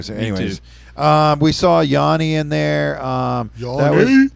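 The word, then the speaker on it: Yawn: the 80s and 90s, Yanni? Is that what it is? Sort of. Yes. But it's spelled uh Y A W N as in Yan.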